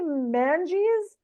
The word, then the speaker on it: Manges: Yes, they say Manges, Manji. and I was like, how did you get your name? And they were like, like the mange, like the cat disease.